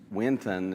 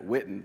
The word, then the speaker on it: Winton: commentary on proverbs and anything uh brother Bob Winton it's w i n t o n I sometimes want to pronounce that whitten for some reason I think it's just uh